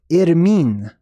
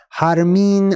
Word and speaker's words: Irmin: This can be pronounced in many different ways, and there's certain names in various countries and stuff that people are named after this. Harmin, Armin, Irmin, Ermin, all sorts of variants, right?